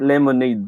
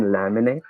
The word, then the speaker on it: laminate: look if you can't lemonade these papers for me then i'll go somewhere else do you mean laminate see this conversation the word laminate is mispronounced to be lemonade and and the guy